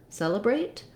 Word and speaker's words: celebrate: You may, in the unstressed syllable, you may have an or an We do have first syllable stress here. So my first letter E is a tense vowel like in red or in cell.